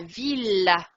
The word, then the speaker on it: villa: Attention, celui-ci, on voit deux L, mais c'est un piège. La villa, vous voyez?